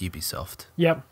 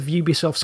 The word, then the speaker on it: Ubisoft: Well, at least we established that Ubisoft is pronounced Ubisoft.